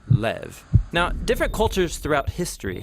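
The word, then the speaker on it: לב: this prayer part which in Hebrew is sometimes pronounced Lev or more often in a shorter form Lev now different cultures throughout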